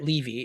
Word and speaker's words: Levy: Levy is the way that he pronounces it.